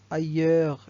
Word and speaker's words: ailleurs: Ailleurs, le S ne se prononce pas.